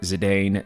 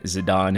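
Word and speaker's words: Zidane: looking at these figures for Zedane, Zidon, however you guys want to pronounce it. Believe the official pronunciation is Zadon, though, by the way.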